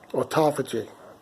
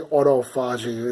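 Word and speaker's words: autophagy: the coffee because of at Apogee that's how you say it I always want to say Auto fudging it doesn't sound right right or top of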